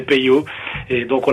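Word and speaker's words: Peyo: notre famille vient d'Angleterre nos petits cousins anglais avait difficile de prononcer le mot Pirot il disait pot et donc on l' appelait pot tout son son enfance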